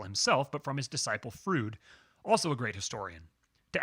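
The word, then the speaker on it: Froude: but from his disciple frood also a great historian to add to the fun fruit is pronounced just like the way keanu reeves says fruid and bill and ted's excellent adventure someday i will read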